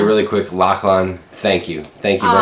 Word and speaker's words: Lachlan: By the way, it's pronounced Lachlan.